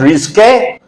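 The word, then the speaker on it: risqué: Here this word is pronounced risque and this word is pronounced risky.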